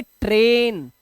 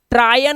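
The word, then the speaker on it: train: पर इसे क्या पढ़ेंगे इसे पढ़ेंगे ट्रेन ट्रायन नहीं ट्रेन ठीक है इसी तरह से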